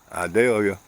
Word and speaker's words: Idalia: had hurricane I value I pronounce it like the sweet onion idalia come through and brought